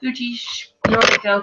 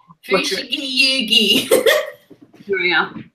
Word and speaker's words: Fushigi Yugi: I really love that you talked about Fuji's Noriko, because I can't pronounce the name of that. Fushigi Yugi.